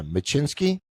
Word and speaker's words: Maczyinsky: I'm going to try Maczyinsky. That was perfect.